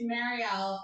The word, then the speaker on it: Marielle: It's Marielle. I introduce myself, I tell people it rhymes very well. I used to tell people it's like Marielle, like Merry Christmas, because that's how it's spelled.